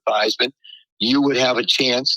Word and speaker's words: Theismann: think by just simply changing the pronunciation of your last name from Theismann to Theismann, you would have a chance to be able to win the Heisman Trophy."